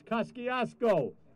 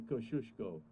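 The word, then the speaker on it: Kościuszko: who he is because you're not saying it right it's koskiasko in greenpoint but we know that it's actually kosciuszko and i learned at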